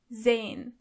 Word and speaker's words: sehen: To see is sehen. Sehen. As you can see, the letter S is not pronounced as S, but more like Z. So you say sehen.